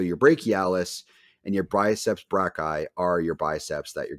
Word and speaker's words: brachii: So ultimately, the two heads are called your triceps brachii. I never know how to pronounce that.